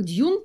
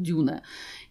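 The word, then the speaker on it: Dune: правилам латышского языка и если это читается по английской как джун тао по-латышски это почиталась как дюна иногда я такие косяки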